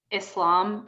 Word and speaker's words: Islam: i want to just call out the pronunciation on both of those islam and muslim because that's how we say those terms and that's how i